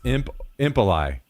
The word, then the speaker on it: Impali: Made the name when I was 13, so not much thought went into the pronunciation. It's Impali.